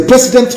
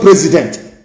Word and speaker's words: precedent: It is a precedent law. Precedent, not president. Precedent law, P-R-E-C-E-D-E-N-T.